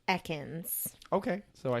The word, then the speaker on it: Ekans: just like you trust me on mine it's Ekans okay so I said it wrong sorry to